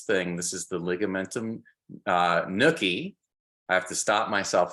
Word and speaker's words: nuchae: All right, and it looks kind of like nucha, but the official way you pronounce it is nuchae.